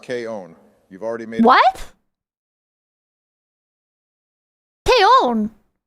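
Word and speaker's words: けいおん!: your favorite girl in K on actually Donald it's pronounced K own you've already made what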